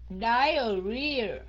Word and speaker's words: diarrhea: Diarrhea. Mình nhấn cái âm cuối á.